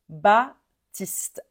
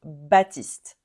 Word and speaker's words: Baptiste: masculin courant on prononce Baptiste en général le P est muet donc Baptiste Baptiste l'avant dernier prénom